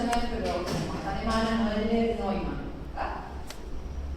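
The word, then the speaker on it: Noelle-Neumann: Es Noel, se pronuncia Noel, pero como es alemana, Noel Neumann.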